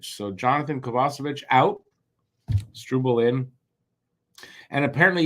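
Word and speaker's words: Kovacevic: lineup Jonathan kovasovic because that's how apparently it's pronounced kovasovic so Jonathan kovasovic out stral in and apparently yesterday Colin white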